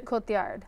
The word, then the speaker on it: Cotillard: Okay, and I let you pronounce Marion Cotillard, is that Marion Cotillard.